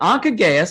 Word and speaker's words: Anca Gheaus: I think it's Anca Gheaus. Is that right, Anca? Okay, Anca Gheaus.